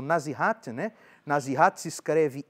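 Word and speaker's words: nasihat: Aliás, antes o nazihat, né? Na zirat se escreve n a s i h a t nazi.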